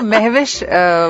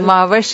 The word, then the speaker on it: Mahwash: तो महविश हमारी पाकिस्तानी प्रोनाउंसिएशन है, जिस तरह हर मुल्क की अलग प्रोनाउंसिएशन होती है नामों की, तो माविश इज the correct pronunciation.